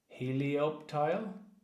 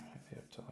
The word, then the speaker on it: Helioptile: Just hard to pronounce. The P and the T, like right beside each other, is not easy to pronounce.